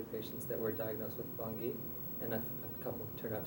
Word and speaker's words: Bangui: Did I pronounce it right? Bangui.